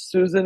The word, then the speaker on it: Suzan: My name is Susan and you um pronounce it uh properly. A lot of people think it's Suzanne because it's written with a Z and it's Susan.